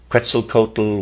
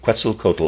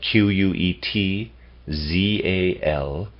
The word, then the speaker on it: Quetzalcoatl: mephistopheles displayed much more of a soul nature pretzel coated was never also excuse me quetzalcoatl also never appeared directly incarnated now quetzalcoatl is spelled q-u-e-t z-a-l-c-o-a-t-l quetzalcoatl his symbol was similar to the mercury